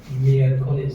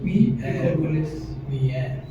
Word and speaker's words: miércoles: Lunes, martes, Miércoles.